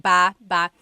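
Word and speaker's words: bába: Like ba ba. So depending on how you're saying it, it could be baba, chin, baba. Emphasis is on the first syllable.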